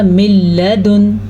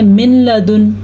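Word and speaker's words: من لدن: आया तो हमने पढ़ा मिल लदन अगर हम लाम को बिलाना नहीं करेंगे तो हम पढ़ेंगे मिन लदन तो यह गलत हो जाएगा इम हमारे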